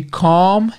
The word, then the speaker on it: calm: pais e outros parents and others to be calm and positive fácil né to Beal talvez pela pronúncia vocês não reconheçam mas a escrita é